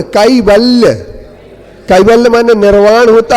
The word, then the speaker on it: कैवल्य: अशिष्यमो कैवल्य विभूति सम्राट केवल नहीं बोले, कैवल्य।